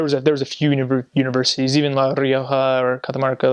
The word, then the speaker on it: La Rioja: La Rioja, and it's normally you pronounce it La Rioja, but there they say their R's, the first R's or double R's with a sh, so it's like La Rioja.